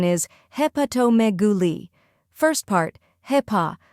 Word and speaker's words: hepatomegaly: Third part, megaly, stress the me and end with a soft li. Put it all together, hepatomegaly. Now repeat after me, hepatomegaly.